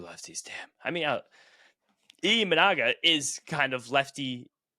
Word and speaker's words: Imanaga: Brandon Sproat for Shota Imanaga. No, Imanaga.